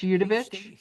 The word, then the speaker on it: Udovich: Udovich. Yes. State your name is spelled for the synographer.